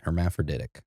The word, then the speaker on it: hermaphroditic: a 15ot tall forearmed hermaphroditic is that how it was said again that is exactly how you pronounce it hermaphroditic yeah meaning they have